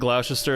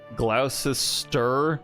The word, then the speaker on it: Gloucester: I think Gloucester is pronounced like Gloucester. You don't hear the second E.